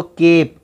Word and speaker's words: cape: बता चुका हूँ कि जब भी कोई शब्द ई पे ख़त्म होता है तो उससे पहले वाले अक्षर पे ही वो वर्ड उच्चारण में ख़त्म हो जाता है। तो केप, केप क्यों पढ़ा आपने?